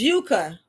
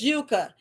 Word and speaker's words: Yuka: You're right. It's Yuka. Where she's at? Yes. It's yucca.